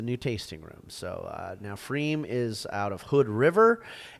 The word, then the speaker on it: pFriem: So if you're ever near a Freem, and that's spelled with a PFRIEM.